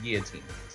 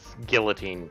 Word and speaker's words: guillotine: I'm like, no, it's definitely guillotine. Admittedly, with certain bastardizations, guillotine technically is a widely accepted pronunciation.